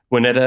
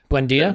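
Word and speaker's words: Buendía: So are they going to sell us Wineta or whatever? I can't pronounce the name correctly. Probably not for a price that Arsenal are going to want to pay. Buendia?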